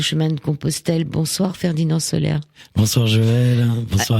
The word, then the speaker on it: Soler: On va en parler ce soir avec Ferdinand Soler. Il s'appelle Comme le soleil, mais ça s'écrit S-O-L-E-R.